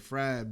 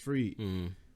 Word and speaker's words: Fried: It looked like Fried, but it's pronounced Freed.